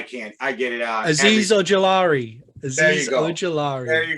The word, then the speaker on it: Azeez Ojulari: Azeez Ojulari. There you go. There you go. Yeah. Maddie is my pronunciation specialist, and he nailed it for us because they want to make me work this year.